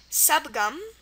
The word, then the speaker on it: subgum: word is Du Jun word number seven it's pronounced subgum subgum it's spelled just as you would think